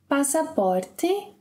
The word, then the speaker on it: passaporte: There are some contexts where the closed E, only the closed E, when it's not the strongest syllable in a word, can be reduced and pronounced as E. Mm-hmm. So, for example, passaporte.